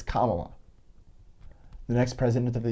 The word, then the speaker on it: Kamala: and get it right, I'm going to do my best, but ask her how to pronounce it if you have a problem, and believe her when she tells you it's Kamala, the next president of the United States.